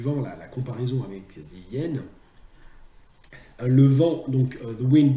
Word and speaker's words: hyène: les hyènes, oui, normalement, le H d'hyène est un H muet. Et donc, on doit dire une hyène et l'hyène.